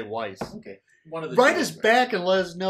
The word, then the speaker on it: Weiss: Now, speaking of Magic Bands, we actually have a listener question from Melissa Weiss. That's how you pronounce it. Weiss. Okay. I'll say Weiss.